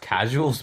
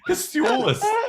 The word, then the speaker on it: Casuals: I think that's pronounced casuals, mate. I thought you'd like that one. Casulas.